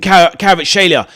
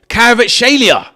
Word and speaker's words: Kvaratskhelia: Great freak from Kvaratskhelia.